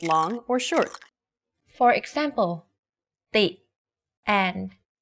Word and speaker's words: ตี: For example, ติ and ตี The first word ติ with the shorter sound means to criticize. If you say it a bit longer, ตี it means to hit.